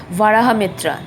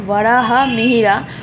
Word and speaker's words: Varahamihira: Here the name of the person is Varahamitra. This Varahamihira is a very famous person. Varahamihira. Why? Pronunciation is Varahamihira.